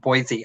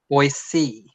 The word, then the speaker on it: Boise: Non-Idaho residents wrongly pronounce it Boise. Oh, but it's pronounced Boise.